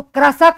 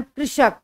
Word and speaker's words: कृषक: अब हम बात करते हैं री से ऋषि की, जैसे आपके सामने शब्द लिखा है कृषक, इसको कृषक नहीं पढ़ेंगे, री ऋषि का उच्चारण कृषक, कृषक इस तरह से करेंगे।